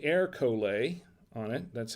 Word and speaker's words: Ercole: so this is erica and it says say air collar on it that's how you pronounce it 2019 is a barbara del monferrato